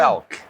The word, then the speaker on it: Fealk: Fealk.